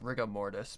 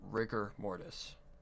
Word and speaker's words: rigor mortis: proper spelling of it rigor mortis sometimes it's pronounced riga mortis but rigor mortis uh let's see i need to go to